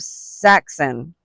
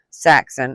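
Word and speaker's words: Saksin: It's not like spelled like Saxon. It's S-A Saxon, S-A-K-S-I-N.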